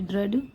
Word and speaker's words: ड्रेड: जैसे कि हम उसको बी आर ई ए D bread पढ़ेंगे, डी आर ई ए डी ड्रेड, एच ई ए D head, T एच आर